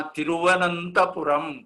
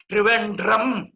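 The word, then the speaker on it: തിരുവനന്തപുരം: आंग्लजनाः तिरुवनन्तपुरं कीदृशं सुन्दरं नाम उच्चारणं कर्तुं न शक्तवन्तः। त्रिवेण्ड्रम् अरे कस्यचित् नाम्नः उच्चारणं परिवर्तयितुं शक्यते किम्?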